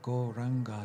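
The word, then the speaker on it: Gauranga: to add the mantra go ranga to our practice turning this practice into a meditation practice the mantra is goranga meaning the golden lord of love goranga mantra has four syllables so shortly we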